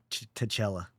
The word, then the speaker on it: T'Challa: It's pronounced T'Challa. T'Challa, whatever.